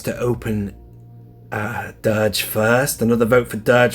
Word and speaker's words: Durge: Tony Z says to open the guy that rhymes with splurge. I love that. And that is it. I think I've mentioned everybody there. So it's definitely Durge, isn't it?